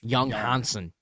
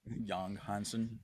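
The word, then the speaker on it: Yang Hansen: Young young Hansen. Young Hansen. Young Hansen. That's how they pronounce it.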